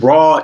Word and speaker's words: Rahh: And Rahh is pronounced like R-A-W, but it's spelled R-A-H-H.